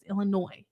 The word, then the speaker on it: Illinois: am I saying Illinois Illinois right ill not you don't pronounce the S um but there's some